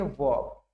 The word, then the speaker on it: verb: इसमें आर जो है म्यूट होता है, साइलेंट होता है, इसको बोलते हैं वर्ब।